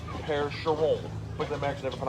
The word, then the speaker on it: Percheron: river valley in normandy france so they're actually pronounced pear-sha roll quick that max never put off that ring